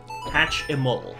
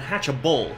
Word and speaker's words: Hatchimal: Hatch-a-mole. Hatchable Lecter. No, not hatch-a-bull. Hatch-a-mole. Hatch-a-mole. Yeah. Hatch-a-mole. Like hatchy, and then, like, hatch-a-mole.